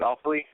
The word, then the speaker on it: Offaly: Is that how you say it, Offaly?